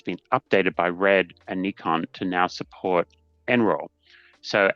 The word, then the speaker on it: Nikon: with Nikon I have learned that it is pronounced Nikon not Nikon not Nikon as I used to when I lived in Australia but Nikon apparently is the corre correct pronunciation.